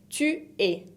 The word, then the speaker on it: tu es: La deuxième personne du singulier, c'est tu es. Tu es. Par exemple, tu es argentin. Tu es se escribe con una S que no se pronuncia tampoco la S final.